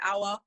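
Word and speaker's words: Aouar: the in the midfield i always pronounce his name wrong apparently pronounce it hour hour yeah that sounds about right actually i want hour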